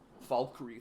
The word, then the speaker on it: Falkreath: Falkreath. You're just supposed to pronounce the L.